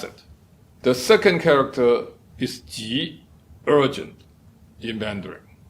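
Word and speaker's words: 急: The second character is ji, urgent, in Mandarin. But when it's pronounced in Cantonese or Middle Chinese, it's pronounced as gup.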